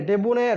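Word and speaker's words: debonair: तो डेबोनारे, डेबोनायर, डेबोनायर होता है। डेबोनायर मतलब हम प्रोनाउंसिएशन का आप लेकर डिस्टर्ब मत होइएगा, क्योंकि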